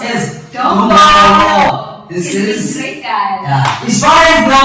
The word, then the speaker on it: Dombolo: That is pronounced as Dombolo.